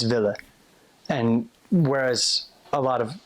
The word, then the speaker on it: willen: And they drop the N when they say it. They just don't pronounce it. So instead of willen, it's ville.